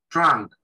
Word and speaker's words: trunk: Trunk. Primero, trunk, donde esa U se pronuncia parecido a una A, trunk.